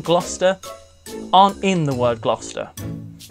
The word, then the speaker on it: Gloucester: nothing on this one Gloucester Gloucester Gloucester the the name with so many silent letters in it the word almost doesn't